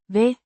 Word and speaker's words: ved: Pronounced Ved. like way, but with a shorter and less emphasized vowel sound.